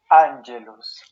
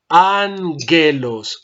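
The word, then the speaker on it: ἄγγελος: Ángelos. Ángelos, ángelos. Atención a la pronunciación de la gama nunca suena Y, la gama siempre suena como gato.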